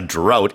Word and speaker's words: drought: So yeah, a drought is spelled D-R-O-U-G-H-T-S. drought라고 발음을 하고요. 스펠링에는 GH가 들어가 있는데 이거를 이제 뭐 푸 발음으로 한다든지 이렇게 하진 않습니다.